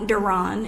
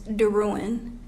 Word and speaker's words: Derouen: Well, number one, she pronounced my name wrong. My last name is not Derouen, it's Derouen.